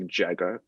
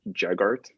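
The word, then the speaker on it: Jaghut: or jega it's like spelled j-a-g-h-u-t but it's pronounced like jagga jaggart okay almost jaguars um anyway they're like these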